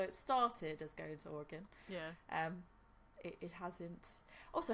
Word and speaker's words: Oregon: So the Oregon Trail, though it originally ended in Willamette Valley,